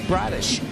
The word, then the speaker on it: Bradish: And they're going to face Kyle Bradish rhymes with Radish.